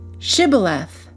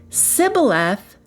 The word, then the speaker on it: Shibboleth: When someone tried to cross, they asked him to say, Shibboleth. If he pronounced it Sibboleth, they knew he was an Ephraimite because of the way he said it.